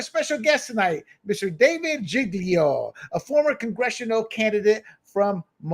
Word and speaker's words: Giglio: Is it Giglio or Giglio? Giglio. Oh, God, that's Italian, isn't it?